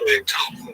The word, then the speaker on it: Bechtel: Bechtel, pronounced Bechtel, the San Francisco-based organization.